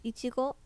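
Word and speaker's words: いちご: So in Japanese it's ichigo, What?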